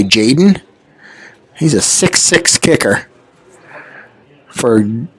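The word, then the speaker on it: Tjaden: a d n so I'm going to not pronounce the T and say Jaden he's a 66 kicker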